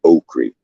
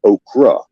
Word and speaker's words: okra: all of it, but the Creole people had a word for it to call it okri. Okri, due to the way they pronounce their words. Now, it is correctly pronounced in our language, okra.